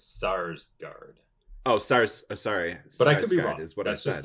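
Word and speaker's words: Skarsgård: Skarsgard is great I I think the K is silent I believe I think it's SARS guard oh SARS sorry that's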